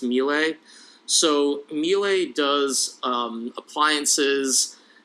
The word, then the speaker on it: Miele: correctly i think i am i believe it's pronounced melee so melee does um appliances et cetera they